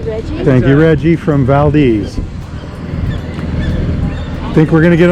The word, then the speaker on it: Valdez: the Maz Dam mastam in Valdes Alaska are not Valdez because it's a strategic mispronunciation that was coined by early settlers in the 1790s it was a dig at the Russians who were ruling the place at the time oh look at that